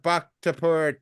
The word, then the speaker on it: Bhaktapur: every single one of them, and that's the bak tapur duck. Whoa, hold up. What duck? It's a bak tapur duck. It's spelled BHAKTAPUR.